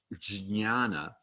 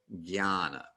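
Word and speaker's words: jñāna: And a J that precedes an N with a tilde is generally pronounced as a G sound rather than a J sound. So the combination with the N with the tilde changes the J. So instead of jnana, you get jnana.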